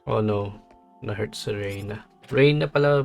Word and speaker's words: Rena: Rena pala pronunciation nila.